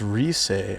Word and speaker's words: Rice: It's pronounced Rise.